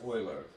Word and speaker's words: Euler: His name is spelled Euler, right? But it's actually pronounced Euler. I'm going to say it's German, right, basically.